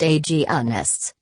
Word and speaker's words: agonists: Gonadotropin-releasing hormone, GnRH, agonists, pronounced agonists, stop the production of certain hormones to prevent ovulation, menstruation, and the growth of endometriosis.